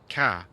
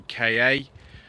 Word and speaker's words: Ka: your keyboards is that there are actually three perfectly acceptable pronunciations of car and the Ford press office over the course of many years used all three you could say Ka car or car it really doesn't matter the one that was used most at the beginning was car which is the one that I use just to get them